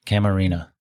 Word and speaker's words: Camarena: Am I pronouncing that correctly? Camarina.